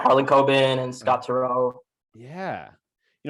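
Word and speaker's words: Harlan Coben: uh blurbs from uh help me with the pronunciation is it harlan kobe yeah harlan cobin and scott taro yeah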